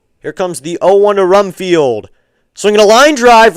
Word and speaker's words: Rumfield: You got to say it like you're revving up a car. Rumfield.